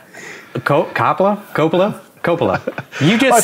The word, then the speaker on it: Coppola: yeah well i mean i heard him say his name and he says it like that like coppola francis ford coppola something like that i